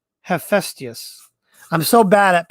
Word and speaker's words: Hephaestus: So Hestius made that. No, not Hestius. How do you pronounce that? Hephaestus.